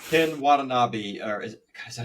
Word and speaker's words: Watanabe: Ken Watanabe, or is that how you say it? Watanabe? Yeah, Watanabe.